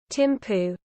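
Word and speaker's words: Thimphu: ये देखिएगा भाई, Timpu.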